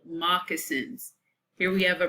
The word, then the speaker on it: moccasins: Their shoes were also called moccasins. Here we have a pronunciation keyword.